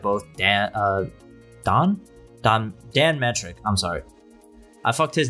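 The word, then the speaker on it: Don Mattrick: Dan of Don Don Dan metric I'm sorry I his name up so many times I've been saying his name wrong for like years I thought it was down Maddock but it's dan metric and Phil sponsor to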